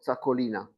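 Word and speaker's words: Txakolina: Which Spanish region produces the traditional wine known as Takoli or Takolina is right pronunciation.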